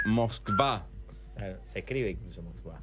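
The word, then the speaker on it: Москва: Moscú se pronuncia Moscva.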